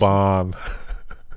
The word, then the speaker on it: Laban: LeBain. Dude. There's some dangerous. Laban. No one knew. I got corrected on the pronunciation of LeBain so many times. People will be like, it's called Laban.